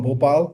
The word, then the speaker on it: Bhopal: close to another city it's simple it's an it's bhopal so uh it's just popular yeah yes you did